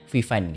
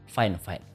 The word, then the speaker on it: FIFINE: literally tulisannya ya bacanya vfine kayak gitu ternyata yang benar itu nyebutnya bukan vfine tapi fineefine ya okelah fineefine aja kok